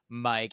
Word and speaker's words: Myq: It's, you know, I feel like for myself, I pronounce it Myq, you know, like your classic Myq, and it is something that I did bring upon myself by changing the spelling, not the pronunciation.